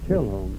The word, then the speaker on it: Chisholm: It's Chilholm. Spelled Chisholm. Chisholm. And you sort of run it together. Yeah, Chilholm.